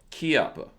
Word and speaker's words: Chiappa: let's see let's jump right into this Paul Chiappa right am i pronouncing that right that's ki ki Appa okay is that the same pronunciation of the